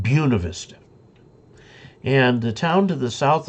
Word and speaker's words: Buena Vista: There's a town in Colorado that you look at it and it says Buena Vista, good view in Spanish. But the people there call it Buena Vista. And the town to the